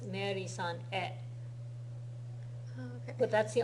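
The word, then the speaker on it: へ: Yeah, it's pronounced e. E.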